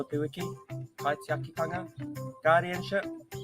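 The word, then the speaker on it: kaitiakitanga: Ko te kupu o te wiki, kai te akitanga, guardianship, kai te akitanga.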